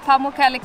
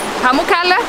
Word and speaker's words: Pamukkale: here to make sure that all areas of Pamukkale gets enough water, because if it gets too